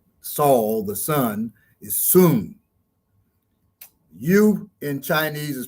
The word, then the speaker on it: Sun Tzu: sun yes that's not saul the sun is soon you in chinese is pronounced soon uh we kind of want to not disrespect them but i'm gonna say sun tzu i mean it's disrespectful same way people say